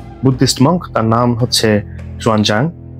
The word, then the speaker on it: Xuanzang: তার নাম হচ্ছে জুয়ানজাং বা শুয়েনটাং, এভাবে উচ্চারণ করা হয় মাঝে মাঝে।